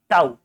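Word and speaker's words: tau: हो आप मुझे बताओ टाऊ से टाऊ ताऊ जी नहीं ताऊ स्पेलिंग होती है टी ए यू टाऊ वही ताऊया तो बेटा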